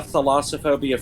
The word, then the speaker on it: thalassophobia: Thalassophobia. Is that how you pronounce that? Yeah, thalassophobia from Thalassa, who is the incarnation of the sea in Greek myth.